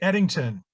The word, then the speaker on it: Ettington: gonna torture your last name how do you pronounce it eddington martin lincoln i was gonna say that well